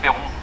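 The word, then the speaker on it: Peyron: parce que Kersozon, je sais pas comment ça s'écrit. Oui, bah Perron visiblement non plus, c'est P-E-Y-R-O-N. C'est Perron, comme Loïc Perron, le navigateur, Vendée Globe.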